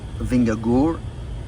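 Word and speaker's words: Vingegaard: I mean, that's what the Vingore, as my Danish wife tries to get me to pronounce it correctly, that's what he's riding is 160.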